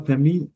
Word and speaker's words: famille: famille donc la famille we don't speak first we don't pronounce the last letter I mean so it becomes y because vowel है पहला फिर vowel है बेचारे दो अक्षर l ने ly बन जाती है pronunciation billet ਪਤਾ ਨਹੀਂ